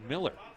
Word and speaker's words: Mueller: Or I think it's Miller. That's how it's pronounced.